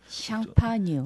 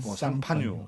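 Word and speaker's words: Champagne: 상판 발음이 좀 샹파뉴. 상파뉴. 예. 예. 그 영어는 이게 불란서 발음입니까? 네. 이거 프랑스의 지역 이름이죠.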